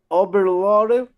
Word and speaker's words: overloaded: overloaded, You are missing the sound at the end. Overloaded, overloaded. overloaded, You need that overloaded, T. You see, it's a D there, but you can pronounce it as a T.